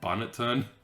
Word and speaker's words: Bonneton: Or Bonneton, that's how you pronounce it.